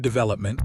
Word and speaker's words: development: Development, stress is on the second syllable.